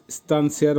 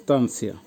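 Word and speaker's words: станция: এরপরে আসছে স্তানসিয়া, এই যে ইয়া, স্তানসিয়ার অর্থ হচ্ছে স্টেশন, উচ্চারণ হবে স্তানসিয়া। ইটা এসব জায়গায় খুব অল্প উচ্চারণ, স্তানসিয়া। আপনাদের সুবিধার উচ্চারণের সুবিধার জন্য আমি এটা যোগ করেছি, স্তানসিয়া।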